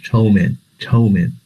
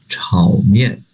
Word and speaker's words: 炒面: 稠面. But this is not Chinese pronunciation. The Chinese pronunciation is 炒面.